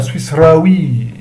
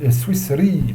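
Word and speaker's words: سويسري: Et là, c'est pareil, on ne va pas dire Swissraoui, on dit Swissri, parce que l'alif, il vient après 4 lettres.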